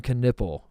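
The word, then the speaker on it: Knueppel: that Khan kiple canle pronounces his name Khan kiple that can't be right Tate tell me that's not right tell me I got that wrong that's phonetically exactly right no I thought the K would be silent and be like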